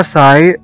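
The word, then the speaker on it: sigh: من فمه فدي اسمها ساي، ساي أو يتنهد، وهنا الجي جه بعد منها اتش بقوا الاتنين سايلنت ونطقنا الكلمة ساي، ساي أو يتنهد.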